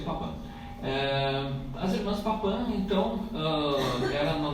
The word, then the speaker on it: Papin: Aqui é um sobrenome, né, que você pronuncia Papin.